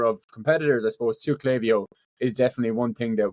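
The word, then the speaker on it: Klaviyo: any Americans listening I know objectively it is pronounced clavio but my accent is just it just it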